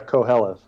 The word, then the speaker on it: Qoheleth: it out loud and don't know how to pronounce it fair enough uh co hellas so i always uh in my head it's quelleth yeah and yeah they are releasing a soundtrack